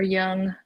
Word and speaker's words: Jung: um dr carl jung about our young it's not ja it's why he's his from german descent i cannot ever remember